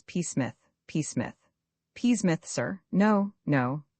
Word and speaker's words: Psmith: The name is Psmith.